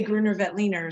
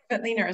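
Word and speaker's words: Grüner Veltliner: And how do you say Gruner Veltliner? So, I mean, those are varieties that... Just like you just did. Yeah, Veltliner.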